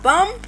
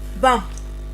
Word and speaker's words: bomb: When a word end in MB, the B is silent.